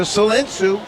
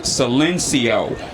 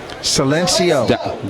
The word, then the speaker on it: Silencio: 60-yard pass completion to Salensu. He had a step. And a correction on that, Glenn. I guess it's pronounced Silencio. Silencio.